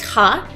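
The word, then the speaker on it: は: Now, this symbol in hiragana it is ha, but when it works as a topic marker particle, it is pronounced as wa.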